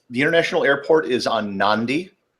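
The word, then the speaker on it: Nadi: international airport is on nandi spelled NAD di but it's pronounced n ndi which is one of the weird quirks of how some things are pronounced in the Pacific uh and then there's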